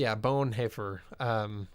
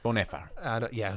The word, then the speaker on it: Bonhoeffer: I'm going to say, Bonhoeffer, because the OE in German is he. Right? Yeah. Bonhoeffer.